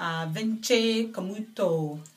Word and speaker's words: Camuto: It's by Vince Camuto. They're Italian brand, but the Italian people pronounce it Vince Camuto.